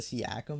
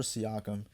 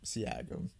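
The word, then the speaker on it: Siakam: I think I said Seakkum last time. I don't know why I pronounced it like that. I I have no idea. I'm pretty sure Seakum. Um, Siakum.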